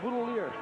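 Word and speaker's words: Boutilier: Boudelier.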